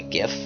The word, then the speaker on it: GIF: I call it a GIF, G-I-F, because it looks like it would be pronounced GIF, not GIF. All right, it'd be with a J.